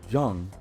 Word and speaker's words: Jung: Carl Jung, or Jung, I think it's pronounced Carl Jung, actually, among others, recognized a kinship between alchemists and psychologists.